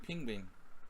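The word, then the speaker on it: pinguïn: The Dutch word for penguin is pronounced more like pingvin. Pingvin. Pingvin. It's actually the same in Hungarian, pingvin. Yeah. It doesn't sound like penguin, it sounds like pingvin.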